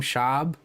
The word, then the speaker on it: Schaub: Schaub.